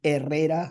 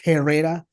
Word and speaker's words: Herrera: Luis Javier Penton Herrera, not Herrera, but Herrera, I guess it should be Herrera.